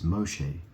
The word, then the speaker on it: Moshe: And obviously Moses is, the Hebrew sounding version of the word Moses is Moshe.